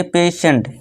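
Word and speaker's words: patient: तो यहाँ टी का जो उच्चारण है टी का, तो इसे हम क्या पढ़ेंगे अब यहाँ टी का उच्चारण हमें क्या देना है दोस्तों? सा का देना है।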